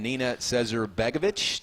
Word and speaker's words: Nina Cesar-Begovic: There's one of women's tennis's all-time greats that's going in, Nina Cesar-Begovic.